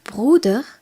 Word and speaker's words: Bruder: article voici quelques autres noms d'air Brodeur d'air Bruder est un mot masculin puisque son article est